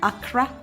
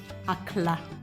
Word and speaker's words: Akra: And in Ghana, in my people's language, the Ga-Adangmes, this is called Akra or Akla.